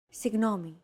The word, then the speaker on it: Συγγνώμη: This character isn't pronounced using an English G sound at all. Γ. It's like a very soft, continuous, and loosely held G, almost as if you're gargling, but don't make it sound too throaty.